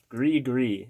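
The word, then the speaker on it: Gris-Gris: John Gree Gree is how it's pronounced, apparently. This is not how I pronounced it.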